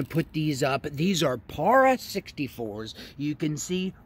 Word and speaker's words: Para 64: am gonna show you para 64. that's how you pronounce these para 64.